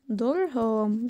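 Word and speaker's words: Durham: درهام بتتكتب يعني زي ما بننطقها، درهامز تيوب، تمام.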